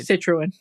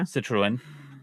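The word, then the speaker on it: Citroën: Uh, and uh, Citroen, if I'm pronouncing that right. Citroen. Yeah, Citruan.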